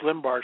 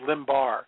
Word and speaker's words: Limbaugh: to say that rush limbaugh should be censored he pronounced it rush limbaugh instead of Limbaugh I just love that